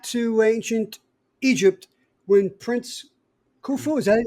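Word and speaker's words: Khufu: Going back to ancient Egypt when Prince Kufu is that how you pronounce his name?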